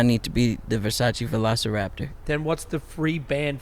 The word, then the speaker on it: velociraptor: here we got versace velarcopter velociraptor oh velociraptor i can't read anything that was that was probably the most horrible mispronunciation of a dinosaur ever a velicopter sound